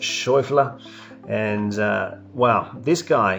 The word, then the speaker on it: Schauffele: amazing swing from xander schaffler in german i think you pronounce it shuffler and uh well this